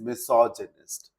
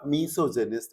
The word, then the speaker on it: misogynist: The next one word for today's session is misogynist. इस word के pronunciation को फिर से सुनिए. It's not misogynist, it's misogynist.